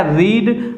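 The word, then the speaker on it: read: form होगी अर्थात क्या रीड रीड की स्पेलिंग वही रहती है लेकिन रेड पढ़ा जाता है अगर बॉक्स ए रेड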